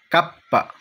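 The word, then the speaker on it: kappa: তারপর দেখেন, ইংলিশে আমরা এটা কি বলি কে, ইতালিয়ান ভাষা হবে কাপ্পা, কাপ্পা। তারপর দেখুন, ইংরেজিতে আমরা এটাকে ডব্লিউ উচ্চারণ করি, ইতালিয়ান ভাষা হবে দোপ্পিয়াবু অথবা বুদোপ্পিয়া বলতে পারেন।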